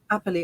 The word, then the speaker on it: Apperley: Apperley, yeah? Yes, yeah, that's right. Yeah. Apperley, okay.